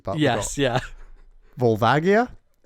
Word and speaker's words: Volvagia: Volvagia. And then he says, I pronounce it Vulvugia and have done since Ocarina of Time's original release.